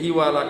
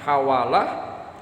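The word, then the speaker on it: حوالة: Jadi hiwalah itu ada yang dibaca haknya fathah, ada yang dibaca haknya kasrah. Jadi ada yang membacanya dengan hawalah, ada juga yang membacanya dengan hiwalah. Jadi boleh dibaca al-hiwalah, boleh dibaca dengan al-hawalah.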